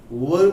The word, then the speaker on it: were: Where is not correct pronunciation of this word. Please speak. Try to speak this word where. इस word को were पढ़ें, were.